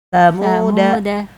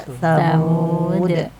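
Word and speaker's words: ثمودا: Jika dibaca wasal launahumullahu ylamuhum tamuda. Dannya panjang dibaca pendek. Jika terpaksa wakaf dibaca tsamud.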